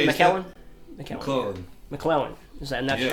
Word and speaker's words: McClellan: Yeah, my friend and BJ Callahan has just got him one from McClellan Guitars too. Really? Is that how you say it, McClellan?